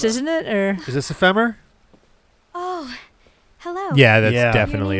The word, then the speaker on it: Ephemer: It's not ephemer unless you put an accent over the e because in English the accent is on the penultimate syllable. So, it's ephemer.